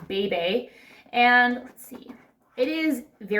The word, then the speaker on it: bebe: I've always called it Beeb, although I think it's actually pronounced Bebe.